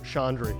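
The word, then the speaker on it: Chaudry: Ladies and gentlemen, Colin Rosenblum and Chandri. Did I say it right? Almost. Almost. Everyone assumes there's an N in my name. I don't know why. Yeah. Chandri. Yes, Chandri.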